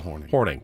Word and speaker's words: Hornung: Paul Hornung, but it's spelled Hornung. It's Paul Hornung.